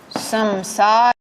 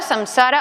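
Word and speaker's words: संसार: Por ejemplo, Gopala, Samsara, Avatara. Estas sí, en estas acertamos, sea como fuere, pero en esas sí que normalmente se pronuncian adecuadamente, ¿vale? Gopala, Samsara, Avatara. ¿Por qué? Porque la penúltima sílaba tiene una vocal larga, ¿vale?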